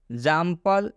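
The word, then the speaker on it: example: तो eggs, एग्जाम्पल, एग्जाम्पल, एग्जाम्पल का मतलब होता है उदाहरण।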